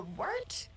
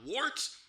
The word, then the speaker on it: Wort: The wort? Yeah, okay, I'll do that again. This is The Wort on Govs Radio. It is the Wort. Not wart, not fort, not short. The Wort.